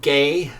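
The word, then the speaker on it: γῆ: The Greek word gay which is spelled ge is translated earth in this passage that I'm sorry the Greek word gay which is translated earth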